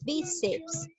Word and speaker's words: bíceps: una palabra a ver analizamos bíceps donde lleva la mayor fuerza de voz en la sílaba be última penúltima muy bien las graves llevan la mayor fuerza de voz es la penúltima sílaba ya no te olvides